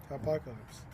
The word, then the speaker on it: Hopacalypse: And I was like, how? Hopacalypse? Yeah. And then I was like, oh yeah, duh. Apocalypse. Apocalypse. Yeah, Hopacalypse.